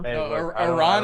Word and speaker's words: Iran: Iran is actually the right way to pronounce, bro.